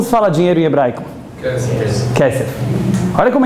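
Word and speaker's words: כסף: Kesef.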